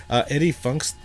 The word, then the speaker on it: Eddie Funxta: Eddie Funxta. Eddie Funxta. Is that how you pronounce it?